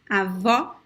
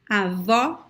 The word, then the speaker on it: avó: So one tip is to pronounce the open O as an open A. For example, you could say avá, avá. And then try to close it a little bit. Avá, avó.